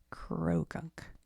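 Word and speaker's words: Croagunk: How to say it? Crow gunk.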